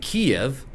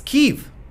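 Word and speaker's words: Kyiv: excuse me everyone um you have been pronouncing our city incorrectly it isn't kiev it's kiev and in my head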